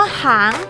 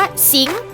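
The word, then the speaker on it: 行: ถ้า มัน อ่าน ว่า หาง มัน จะ หมาย ถึง การ ดำเนิน ธุรกิจ หรือ การ ค้า เช่น ยิ้ม ขาง ยิ้ม หาง ธนาคาร หัง แยก หาง แยก ธุรกิจ หรือ ขุด ตสา หกรรม แต่ ถ้า คำ นี้ ออก เสียง ว่า สิงห์ สิงห์ เมื่อ ไหร่ นะ คะ มัน จะ หมาย ถึง การ เคลื่อน ไหว หรือ การ เดิน ทาง เช่น ขิง นั้น สิงห์แลนด์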